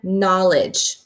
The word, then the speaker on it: knowledge: And then the same with the word knowledge. Hey, I'm seeing a pattern now. I don't hear the sound KN. I only hear the N for knowledge.